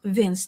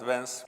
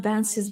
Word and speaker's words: Vance: By the way, Ilhame repeatedly called him Vince today. The Russian style pronunciation.